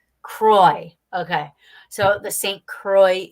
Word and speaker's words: Croix: word I apologize yeah it's Saint Croix Kroy okay so the Saint